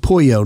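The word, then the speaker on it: pollo: never thought of that two l's it's kind of like puyo not polo for chicken oh it is now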